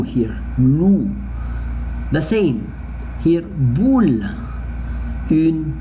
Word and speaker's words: loup: So, un oiseau, un chat, un cheval, un loup, look at, the wolf, un loup, un loup, un loup. I don't pronounce the letter P.